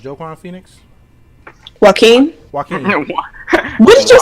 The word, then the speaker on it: Joaquin: Is his name pronounced Joaquin Phoenix? Joaquin? Joaquin. What did you say? Jaquan? Jaquan? He said Joe Queen.